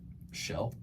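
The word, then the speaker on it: Kjell: Shell Samuelson. Shell. Shell. How do you spell it?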